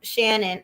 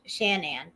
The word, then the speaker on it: Shanann: no answer because um shannon i always want to call her shannon but it's shanann so excuse me if